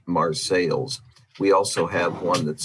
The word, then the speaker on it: Marseilles: We have what would be called Marseille in France, but it's Marseilles.